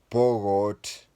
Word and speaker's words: Pokot: And many are called Pokot, but they pronounce it as Pogot.